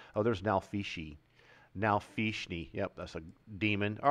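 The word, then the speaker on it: nalfeshnee: Nalfishni.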